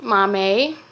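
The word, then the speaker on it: Maame: Mommy Mommy I apologize so it's pronounced we know it's pronounced Mommy and it's by Jessica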